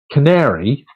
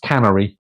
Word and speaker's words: canary: once actually knew someone who thought um that Canary was spelled was was pronounced Cannery um alas it was not it's actually pronounced